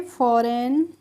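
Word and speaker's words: foreign: के जैसा अबे हमारा एफ ओ आर ई आई जी एन तो इसको हम पढ़ेंगे फॉरेन अब देखिए यहां पर हमने इसको फॉरन पढ़ा है इसको फॉरेन नहीं पढ़ा है तो यहां पर हमने जी का प्रोनंसिएशन नहीं किया है फॉरेन की हिंदी मीनिंग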